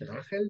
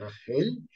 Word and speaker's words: Rachel: Und Rachel, auf Hebräisch spricht man sie mit Rachel aus, nicht Rachel, sondern Rachel, diese edle Gattin, diese jüdische Frau an der Seite des Jakob, merkt, ich möchte das nicht mehr.